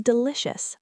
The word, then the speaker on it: delicious: Is delicious. Thank you. Deep dive. Delicious. The ci is a shh sound.